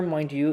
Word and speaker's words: Mindy: you say it right I know it's Mindy Mindy I was gonna say if you said Mandy again I was like I'm not a I've said it I've said it correctly in the podcast okay